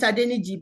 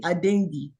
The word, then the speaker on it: Adeniji: People call it Adeniji, but the pronunciation from us is really Adengi, which is interesting.